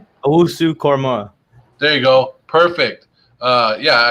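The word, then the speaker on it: Owusu-Koramoah: Owusu Korma.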